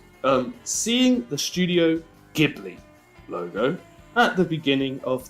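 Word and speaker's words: Ghibli: see I pronounce it gibli not gibli gibli hard G here hard G fans anyone a hard G fan for Studio gibli yeah I I'm a hard G not a soft G yeah say in the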